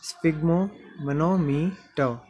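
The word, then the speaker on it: sphygmomanometer: यहाँ पे आर का उच्चारण नहीं होगा लास्ट में, स्फिग्मोमैनोमीटर, स्फिग्मोमैनोमीटर।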